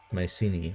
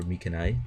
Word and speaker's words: Mycenae: And they will soon be taking care of Mycenae, or Mycenae, depending on how you wish to pronounce it.